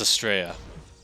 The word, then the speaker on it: Astrea: It's Astrea. It kind of rhymes with Australia.